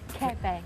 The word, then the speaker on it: Quebec: Quebec.